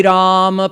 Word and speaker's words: Ram: Ved is saying Ram, 2 syllables. The first syllable, Ra, means Vishwa, the universe. And Ma means Ishwar, the Lord, the governor, the controller.